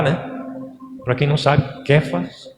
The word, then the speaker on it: Kefas: Para quem não sabe, Kefas ou Cefas é a pronúncia do nome de Pedro em hebraico.